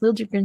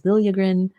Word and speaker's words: Liljegren: pronounce his name because he apparently wants it to be pronounced Liljegren now. This was a talk of Twitter last night, even though there's like this video of him pronouncing his name as Liljegren.